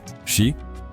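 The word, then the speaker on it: 四: A pronúncia de 4, shi, é idêntica à pronúncia da palavra morte em japonês.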